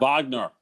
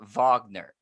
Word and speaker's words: Wagner: It's not Wagner, W. You pronounce it with a V. It's spelled like the Wagner, but you composer. pronounce it like Wagner.